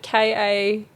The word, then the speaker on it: ceilidh: spell it. People spelled it Kaylee.